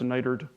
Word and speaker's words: NITRD: national coordination office uh for nighter D which she will pronounce niter and that's okay um but that's the